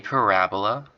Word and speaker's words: parabola: right this kind of curve is called a parabola all right that's how you say it parab